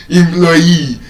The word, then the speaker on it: employee: I just pronounced it the right way. Employee.